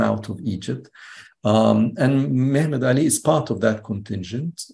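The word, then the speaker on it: Mehmed Ali: name is Muhammad Ali or to use the Turkish pronunciation of his name because he was an ethnic Turk mhmed Ali who comes from an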